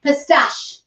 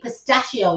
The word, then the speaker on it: pistachio: And I says, that sounds like you're saying it wrong, Deirdre. That should be pistachio. You know what I mean? Like the nuts, or do you remember the ice cream you got last week?